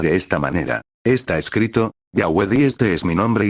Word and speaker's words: Yahweh: del sagrado nombre IU debe ser pronunciado Yahweé. La pronunciación Jehová fue desconocida en los antiguos círculos judíos y está basada en